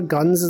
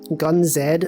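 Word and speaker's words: GunZ: You guys remember Guns the Duel? Gun Z the Duel. That's right. You pronounce it Z.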